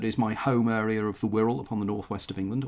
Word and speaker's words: Wirral: Sorry, the Wirral. I've actually learned something. I didn't actually realise, you know, how you're supposed to pronounce it.